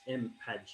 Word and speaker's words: mpadge: So that thing over here in the middle is pronounced mpadge, and that's where I do a lot of my work, as well as OpenSci and AT Futures and other organizations.